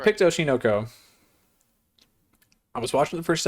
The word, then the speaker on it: Oshi no Ko: Show number 2, Oshi no Ko. Or as I heard some dude in a bunch of YouTube shorts pronounce it, he goes, Oshi no Ko. He said it one word. Oshinoko.